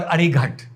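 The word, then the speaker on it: अरिघात: वो है अरिहट और अरिघट। अरिघाट भी इसको प्रोनाउंस किया जाता है।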